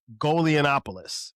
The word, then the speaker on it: Golianopoulos: My man Thomas Golonopoulos. Did I pronounce that right?